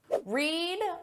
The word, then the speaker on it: read: Read, read, read. Notice the spelling is exactly the same, but the pronunciation changes.